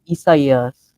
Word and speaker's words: Isaias: Hurricane Isaias. That's actually how it's pronounced.